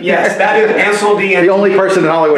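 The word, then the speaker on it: Incendies: So that's why Sean's pronouncing it correctly. Yes, that is Incendie.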